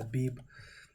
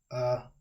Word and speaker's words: Abib: Now, we should already know that Abib is not the proper pronunciation. This is the Yiddish pronunciation. But if you would break it down, the Paleo-Hebrew pronunciation, the real Hebrew, because Yiddish didn't come about to the 10th century, you get Abayab. So, Abayab.